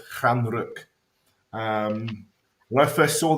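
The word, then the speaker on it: Stjärnrök: uh star smoke um so it's not the end rook or anything like that was the end rock uh it's pronounced fran rook um when i first saw this and obviously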